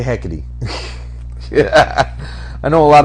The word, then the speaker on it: Hecate: Well, I mean, it is Greek, so the E at the end is always E, so it's Hecate. Hecate. Okay. It's probably Hecate. Hecate heck. Let's Don't say talk back. let's say Hecate.